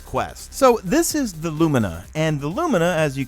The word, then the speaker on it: Lumina: getting a quest for the alumina or Lumina some people like to pronounce it I'm calling it Lumina we're getting this quest